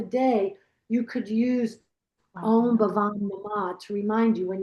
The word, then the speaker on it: Bhavam: It's, Bhavam. I write it. Yeah. And phonetically, it's B-A-H, Bhavam.